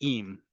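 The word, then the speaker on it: עם: For example, im and im, both pronounced exactly the same in modern Hebrew. Im with an aleph is if, im with an ayin is with.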